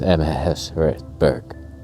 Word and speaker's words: Amherst: And in case I haven't been pronouncing it right, it's Ember.